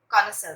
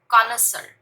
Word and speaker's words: connoisseur: Well, उसे हम लोग कॉनसर बोलते हैं. कॉनसर. ठीक है, स्पेलिंग और साउंड थोड़ा ध्यान दें.